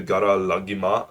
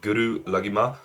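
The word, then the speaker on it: Guru Laghima: I did not know he knew the Gara Lagima fucking style. It's, if you don't know what, I think you pronounce it Guru Lagima.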